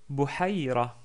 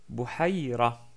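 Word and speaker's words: بحيرة: Bouhaïra. Bouhaïra. Là, par contre, ce n'est pas le son de la lettre Kha qui est prononcé. En fait, il s'agit de la lettre Ha, qui est ici au milieu.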